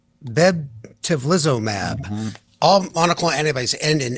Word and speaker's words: bebtelovimab: How do you pronounce that one right there? Why don't you take it, Steve? It is called bebtelovimab.